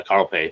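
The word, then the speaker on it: Carl Pei: less right OnePlus is kind of faded with Carl pie or however it's pronounced you know being kind of right um yeah Carl pay thank you yeah kind of out of the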